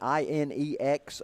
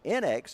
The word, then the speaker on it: NX: one time he said everybody pronounces that wrong everybody wants to call it NX he said that is actually supposed to or inex he said it's actually supposed to be NX it stands for inexpensive racing oh and look